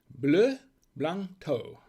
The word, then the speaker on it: Bleu Blanc Thau: once again this is what we're drinking it's pronounced blue blanto and it is a cotito from france so